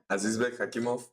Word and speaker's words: Azizbek Hakimov: Azizbek Hakimov.